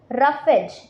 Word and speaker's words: roughage: You have to pronounce it एज रफेज।